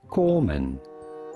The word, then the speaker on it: corpsman: navy corpsman christian bashar how do you go about pronouncing it corman of course the p and s in the middle are silent courts rashad coleman navy